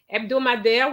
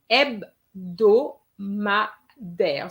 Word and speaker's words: hebdomadaire: Some students didn't know how to pronounce that word. Okay. So I'm going to say it again. Un journal hebdomadaire. So in one go is hebdomadaire.